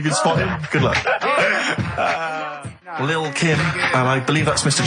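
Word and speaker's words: Lil' Kim: it's a track by Little Kim. How are you pronouncing it? I'm pronouncing that correctly. Lil Kim.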